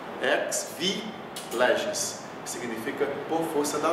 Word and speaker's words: ex vi legis: E aqui é outra expressão, ex vi legis. Ex, o X tem som de KS, ex vi legis, que significa por força da lei.